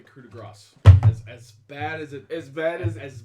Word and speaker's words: coup de grace: Or the Coupe de Gracie. The Coupe de Gracie. Did you know that the correct pronunciation was actually coup de grace?